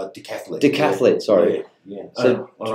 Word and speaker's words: decathlete: The quintathlete? Decathlete.